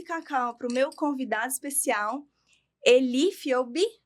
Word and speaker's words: Elie Fiogbe: Para isso, trouxe aqui o meu cacauzinho e tô oferecendo esse cacau pro meu convidado especial, Elifobi. É assim que pronuncia seu nome, querida?